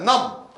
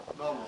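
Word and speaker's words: numb: 나왔네요 넘 요게 형용사입니다 넘 비가 발음이 안나요 따라보자 넘 넘 이건 뭐야 넘 감각이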